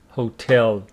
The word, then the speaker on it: hotel: Hotel the central hotel look at the pronunciation of hotel hotel on the second syllable do you know where